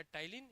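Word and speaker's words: ptyalin: टाइलीन के पी टी व वाला है ना? याद रखना पी साइलेंट है। है ना? टाइलीन।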